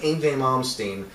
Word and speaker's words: Yngwie Malmsteen: But I think if you're talking about like Yngwie Malmsteen, and you said it right.